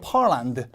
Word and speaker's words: Poland: And Poland 폴란드가 아니고 펄란드 같은 소리가 나요.